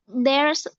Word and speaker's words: there: Sedangkan yang di sana itu TH yang tadi lidahnya di antara dua gigi. There.